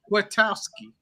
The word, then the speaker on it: Kwiatkowski: I'm saying his name wrong. Kwiatkowski.